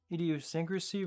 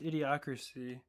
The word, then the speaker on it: idiocracy: I was about to say, is that pronounced idiosyncrasy? But it's idiocracy.